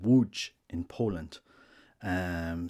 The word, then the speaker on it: Łódź: is crying in a town a city called Wu in Poland um spelled it's pronounced w l which is SLT w o